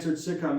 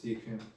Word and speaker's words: Shechem: Sichem. Sichem? That's the one that ravished Dinah. Shechem would be probably the right pronunciation. Shechem.